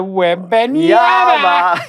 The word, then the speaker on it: Wembanyama: pronounced Victor Wembanyama.